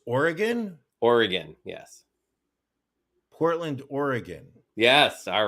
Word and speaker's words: Oregon: though for god's sake brian learn how to pronounce the state of oregon correctly it's oregon thanks guys so i mean overall i think